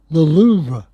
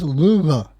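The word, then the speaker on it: Louvre: uh when during all that nonsense and the loura. Oh yeah, it is not lou. Okay, it's not lou. Yeah, it's louva.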